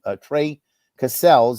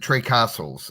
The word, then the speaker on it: Cassels: um uh males go Trey cassels is a tenor right yes he pronounces it Trey castles Tre castles okay pardon